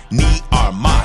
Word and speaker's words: Armah: I'ma say my name so you can pronounce it. Armah.